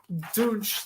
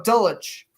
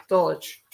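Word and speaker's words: Dulcich: motion that is uh Greg douche the hopefully I'm pronouncing that right oh no dulwich dulwich Brookie tight end you cause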